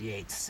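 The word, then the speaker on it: Yeats: that from Yates Yates which is often written yeets but it's pronounced Yates yeets Yates now when did he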